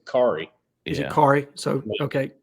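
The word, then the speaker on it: Khary: say it it's k h a r y Cari is it Cary so okay Cy Adams Jordan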